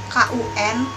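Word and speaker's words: 困: Untuk un itu contohnya KUN artinya ngantuk, dibacanya jadi kun. K-nya aspirasi.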